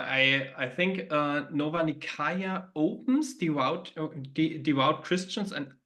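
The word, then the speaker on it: Nicaea: nikaya in Asia Minor in the English speaking World often it's um it's it's pronunciated um ner but uh the uh the Greek uh pronunciation is nikaya that's why I use that pronunciation um and there took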